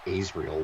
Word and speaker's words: Azrael: his name is Azrael although it's pronounced Israel which makes no sense Oh bye they uh